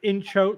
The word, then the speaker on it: inchoate: It's inchoate, like INCH.